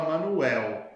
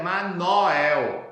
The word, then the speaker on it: Manoel: Porque nós abaixamos o O para U, enquanto que eles elevam o O para O, né?